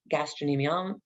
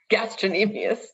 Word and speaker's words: gastrocnemius: site here back of the leg gastroc gastrocnemius gastrocnemium gastrocnemius sorry my pronunciation uh and that's the heart-shaped muscle in